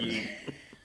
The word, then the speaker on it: ying: So it's ying. Ying, but it means young, yeah. Because it sort of rhymes with king.